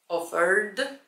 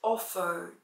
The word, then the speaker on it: offered: tam będzie to dźwięczne i tak powiesz offered, offered. Będzie to D, bo ten język i tak by tam uciekał.